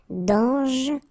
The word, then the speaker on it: dangereux: Final X not pronounced. And then don't really pronounce this E here. Okay, so you get dangereux.